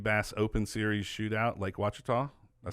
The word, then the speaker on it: Ouachita: You've won second place in the Hobie Bass Open Series shootout, Lake Ouachita.